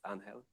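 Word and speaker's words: Ángel: I actually used to pronounce his name differently. I learned from Eric that it's Anhel.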